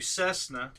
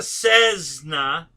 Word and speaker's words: Cessna: now hsd just came out with that new Cessna and I love that thing have you guys